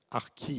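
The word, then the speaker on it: ἀρκεῖ: Bon, ça s'écrit archei, mais ça se prononce en grec, archi, avec un i très long.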